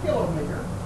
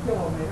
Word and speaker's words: kilometer: It's kilometer. We don't pronounce it kilometer, we pronounce it thermometer.